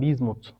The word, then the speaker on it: Bismuth: göstereceğiz bizmut elementi arkadaşlar Asli olarak Bis Mut olarak yazılır İngilizcede özellikle Bis Mut sonunda da H harfiyle fakat telaffuz olarak bizmut olarak telaffuz edilir kur'an-ı Kerim'de Asli formu